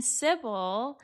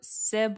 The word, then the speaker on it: Sybill: But then cy is a like is spelled s y b i l l. That's how Trolani spells her name. But it's supposed to be a homonym of cy which is s i b y l and that is like